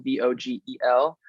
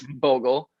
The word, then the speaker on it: Vogel: It's a German name, so it is Vogel, but my dad is actually French and grew up in France, so they pronounce it Vogel, and that's just how it is.